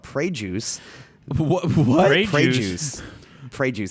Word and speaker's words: Pregius: This one's called Prey Juice.